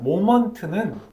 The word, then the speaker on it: moment: 네, 일단 모먼트는 이걸 먼트라고 발음을 하거든요.